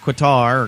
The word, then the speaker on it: Qatar: Just ask the Emir of Qatar, or Qatar, as I like to call it. I still want to call it Qatar. Qatar. I know there's a proper way to say it. It's Qatar.